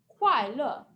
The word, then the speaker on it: kuai le: Kuai le. And this one has fourth tone, a dropping tone. So like you're chopping down with your hand and your voice.